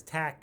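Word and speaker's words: Taq: that as t aq and so we just say that it's tech and if you ask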